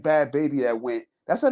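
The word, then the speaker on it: Bhad Bhabie: She wasn't like, to me, she wasn't like Bad Baby that went.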